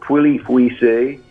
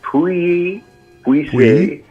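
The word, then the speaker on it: Pouilly-Fuissé: This is a white Burgundy from France, and you rarely see Pouilly Fuissé. And a lot of people call it Pouilly Fuissé, but it's Pouilly Fuissé.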